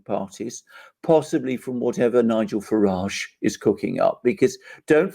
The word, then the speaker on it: Farage: have brexit because of nigel farage i know this isn't how it's said outside britain but that is the